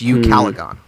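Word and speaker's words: ucalegon: it means nothing well the phonetic spelling is y-o-o-k-a-l-e-g-o-n so it's you caligon that i mean this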